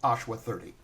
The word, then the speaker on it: Ashwa.30: Is it Ashwa.30 or just Ashwa 30? It's Ashwa 30. We kept the dot for for for branding purpose.